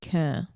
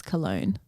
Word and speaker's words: Köln: called Boots House in a city called, they pronounce it Köln, but I think it's Cologne.